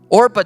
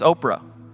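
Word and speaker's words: Orpah: Orpa chose different and we remembered her name wrong. We think it's Oprah.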